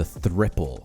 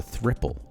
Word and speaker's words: Thriple: coffee shop crew that is another new indicator pronounced as the thripple okay it's 3pl it's the thripple okay um it is a macd replacement essentially